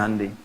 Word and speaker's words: Hyundai: Hyundai bacanya Hyundai.